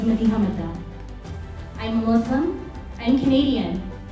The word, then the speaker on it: Madiha Madda: Madiha Madda, pronounced by my parents as Madiha Madda.